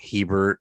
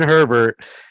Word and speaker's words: Herbert: Herbert, I always say it wrong. How can you say Herbert wrong? I keep saying Hebert and other shit.